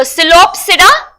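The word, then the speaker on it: Psilopsida: your diadophiles okay so silopsida so p is silent lycopera cenopsida and teropsida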